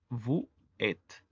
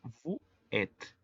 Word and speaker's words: vous êtes: En el caso del vous, de forma aislada sería vous êtes, pero si lo leemos de manera corrida sería vous êtes. La S, que es muda, se liga con la siguiente palabra que comienza con vocal y la S se pronuncia como Z.